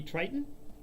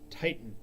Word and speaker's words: Titan: The second one you need to talk to is Timothy Triton. Timothy Triton. Actually, I said it wrong. Titan. Titan, but he pronounces it as if it had only one T.